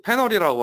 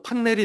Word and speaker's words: 패널: 어시스턴트 패널이라고 하고요. 뭐 한국식 발음으로 하면은 어시스턴트 판넬이 되겠죠.